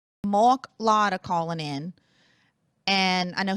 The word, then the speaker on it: Lotter: It's like Lotter. I'm like one short of the lottery, which is just like in real life.